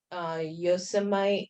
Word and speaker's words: Yosemite: It's not far from Yosemite.